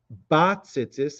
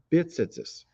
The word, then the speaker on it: b'tzitzis: While standing, recite the bracha lihisate b'tzitzis, which we see below, and pronouncing it bat tzitzis and not bit tzitzis. It's a grammatical focus that should be made.